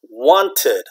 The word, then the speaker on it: wanted: Want is 1 syllable, but in the past tense, past form, it is what? Wanted, or you know, a lot of Americans just say wanted, okay, or wanted or wanted. All right, whether you pronounce it T or not, this is what? Extra, okay, that's going from 1 syllable to 2 syllables, okay, want, wanted, wanted, okay.